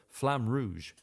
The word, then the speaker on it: Flamme Rouge: And finishing off, Rebecca played some Flamme Rouge. And for the non-roll your R people, Flamme Rouge.